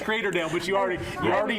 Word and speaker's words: Creatordale: to be like El we need you to tell Joe that it's crater Dale but you already you